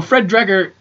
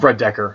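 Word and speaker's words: Fred Dekker: 50s 60s horror movies oh it does so fred dreger i keep feeling a fan's last name wrong fred decker decker yeah black and decker all right so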